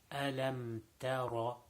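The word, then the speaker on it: ألم تر: So ta ra, ta is not full mouth, so it should not be pronounced tara. It should be tara. So again, alam tara.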